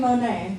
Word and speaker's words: Monet: here it's basically okay just Google b-i-d-e-t and it rhymes with my name Monet your name um but